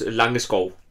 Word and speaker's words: Langeskov: know and in this this is pronounced illunga skull and sorry about that